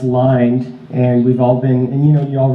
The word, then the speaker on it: Lynde: so I realized that his name is actually pronounced line and resolving any of